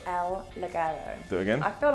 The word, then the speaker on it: Ligero: El, take a pause, Ligero. El Ligero.